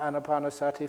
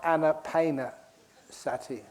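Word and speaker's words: ānāpānasati: things I say about annapanasati first of all remember to pronounce it correctly it's not Anna painter Sati I imagine that because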